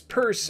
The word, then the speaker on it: Pierce: likely to hear Franklin Pierce who pronounced his surname as purse is consistently ranked as